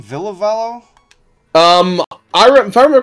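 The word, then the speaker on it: Ville Valo: yeah the band's thing yeah how do you pronounce his name villavallo um I remember correctly it's Billy valo Villa okay and I just I I don't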